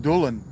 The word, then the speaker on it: Dylan: It used to be pronounced Dulan then. That Y used to be pronounced like a U.